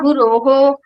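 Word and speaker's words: गुरुः: Guru plus Visarga, Guroho. Gau plus Visarga, Gauhu.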